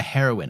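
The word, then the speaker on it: heroine: Yeah, a heroin. I always I always think it can't be the same pronunciation as the drug heroin, but it is.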